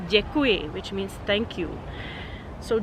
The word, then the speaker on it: děkuji: It's basically something like D and Y when you try to pronounce it. Very soft D. A good example and a very important word in Czech is the word děkuji, which means thank you.